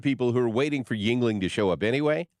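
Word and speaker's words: Yuengling: the name of that beer he's like it's Yingling bless you so I I didn't really understand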